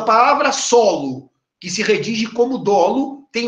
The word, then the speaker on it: dolo: fazer uma nota subir a pronúncia da palavra dolo eu durante muito tempo que sofrendo porque que o ódio ídolo é aberto se separaram detalhe muita gente chama o dolo de tolo com o fechado é e até eu